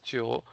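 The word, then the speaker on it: 九: If you take a look at their character, the Chinese character for number 9, which is pronounced as Chio, it is like shaped in a similar way.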